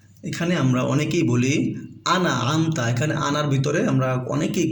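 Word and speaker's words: أَنْعَمْتَ: সিরাতাল্লাযীনা আনআমতা, এখানে আমরা অনেকেই বলি আনা আমতা, এখানে আনার ভিতরে আমরা অনেকেই কলকলা করে ফেলি, বারবার উচ্চারণের মতো শোনা যাচ্ছে, কিন্তু আমতা এটা ইজহারের হরফ, স্পষ্ট করে পড়তে হবে।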